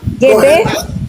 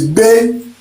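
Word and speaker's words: gbé: No, it's be. Gebe? GBE? GBE is be. That means to lift, to carry. Be. Be. So the G is silent.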